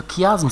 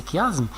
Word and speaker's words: chiasme: suivent en arabe le chiasme celiiasme pasiasme certaines personnes le prononcent chiasme encore c'est pas juste c'est faux d'accord il faut prononcer kasme mais s'il vous plaît